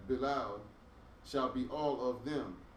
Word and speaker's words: Belial: But the sons of Belial, you said it right the first time. Belial shall be all of them as thorns thrust away, because they cannot be taken with hands.